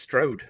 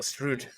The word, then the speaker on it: Stroud: yes Sarah has just told me that it's pronounced Stroud not strud ah well Str Sarah you need to come